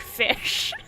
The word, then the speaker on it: ghoti: You pronounce it like fish. And this is based on a real letter written by That's two bullshit. authors in Wait, 1855 to make fun of English as a language. You ready for this bullshit? It uses the GH from tough, which is pronounced as an F, the O in women, I, and the TI in nation, pronounced as SH.